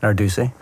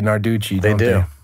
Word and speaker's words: Narducy: say your last name Nardi and a lot of people say Narducci and how do you feel about that um well originally it was CCI and it got